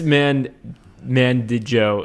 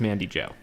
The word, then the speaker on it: Mandy Jo: vodka yeah so miss man man did joe is actually just mandy jo so sorry about that